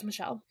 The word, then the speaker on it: Michel: In my brain, it would have two L's then. But it's Yeah. French, so it's Michelle.